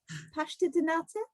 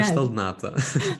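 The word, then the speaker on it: pastel de nata: Is it pasta de nata? No, Pastel nata.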